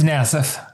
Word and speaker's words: Nassief: It's Nassief.